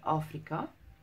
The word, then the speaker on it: Afrika: So you pronounce it Africa. It's got the K instead of the C.